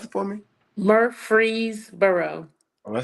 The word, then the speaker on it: Murfreesboro: Pronounce it for me. Murfreesboro.